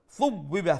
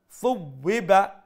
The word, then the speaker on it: ثُوِّبَ: Thub biba tha. Make sure you pronounce the tha with the softer tone.